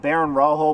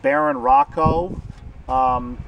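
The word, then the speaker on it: Barón Rojo: I heard the name pronounced Baron Rojo before, but in the booklet, when I was looking at it, it says something about it being pronounced Baron Rocco.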